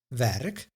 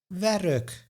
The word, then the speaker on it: werk: We hear a tiny extra in other words, the schwa, stomme e or the mute e that I discussed in the previous lesson, but we don't write any letter to indicate this sound.